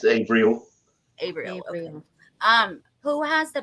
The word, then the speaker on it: Avriel: Ariel's your daughter abrielle how do you say it April or abrielle it's Avril Abraham um who has